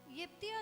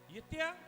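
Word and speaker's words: Jephthah: यिप्तिया, यिप्तिया, यस। और English में जिफ्ता है, या जिफ्ता भी बोल सकते हैं, जिफ्तिया भी बोल सकते हैं आप, तो अलग अलग प्रोनाउंसिएशन है।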